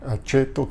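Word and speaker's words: aceto: conservar si no mirar a Cheto que se escribe acepto no significa aceite sino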